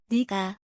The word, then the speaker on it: 내가: What's unique in Korean 내가, is pronounced as. 니가.